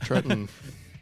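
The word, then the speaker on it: Tretton: welcome your host Jack tratton oh my God Jack Trenton that's the first person I've heard say his name like properly is Trenton the quality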